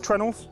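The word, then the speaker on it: treenail: This ship is held together with trunnels, um which is spelt tree nail, uh and that is because it is literally a tree nail.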